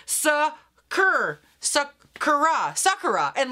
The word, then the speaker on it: sakura: know it it's what is it sakura it's sakura i got it but i keep getting hung